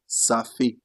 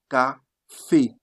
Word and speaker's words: café: They don't say safé. You say café, café, because you are not having A here. That's why you took the sound K, became café, because you have A, café, that is coffee.